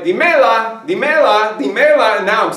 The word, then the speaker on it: dímela: But if I say, dime la verdad, instead I just say, dime la verdad, dímela, dímela, dímela, okay? Well, if I don't accent that, dímela, dímela, tres sílabos, all right?